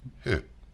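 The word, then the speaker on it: Høeg: Yeah, but the line, it's pronounced like O with umlaut.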